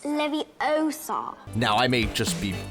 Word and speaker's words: Leviosa: You're saying it wrong. It's Leviosa.